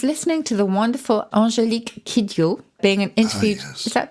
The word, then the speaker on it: Kidjo: I was listening to the wonderful Angélique Kidjo being interviewed. Yes. Is that what she's called? Kidjo? Is that how you pronounce it?